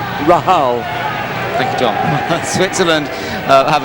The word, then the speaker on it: Rahal: best of Lebanon or Graeme Rahal or as we call him Graeme Rahal because he is of Lebanese ancestry. his grandfather wasn't a Lebanese uh citizen and uh so that is the pronunciation of Rahal in Lebanese Rahal.